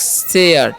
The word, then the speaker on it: share: और इसे पढ़ेंगे हम लोग शेयर, ठीक है। यहाँ पर भी SH का उच्चारण तलावेसा और ARE है तो उसका उच्चारण ए होगा, ठीक है।